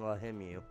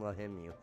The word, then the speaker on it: Lahimu: And, their names are going to be Lahamu and Lahimu. So, Lahamu and Lahimu. And, just so you guys, you know, heard it pronounced correctly and right, too.